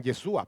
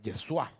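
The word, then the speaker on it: ישוע: Algunos lo pronuncian Yeshua, pero es Yeshua.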